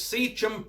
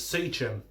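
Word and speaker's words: Seachem: So it's Secum Prime. You're going to probably be cursing me out how I pronounce Secum, because I think a lot of people pronounce it Secum.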